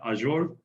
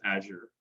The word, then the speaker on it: Azure: that out now this brings us to microsoft azure and yes it's azure um to be very honest um for a longest time i used to call it azure and it was funny that we had to